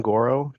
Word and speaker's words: Goro: name name is Goro j s t i n g r o c and for the sake of pronunciation you can think of it like Zoro with a G thank you um Mr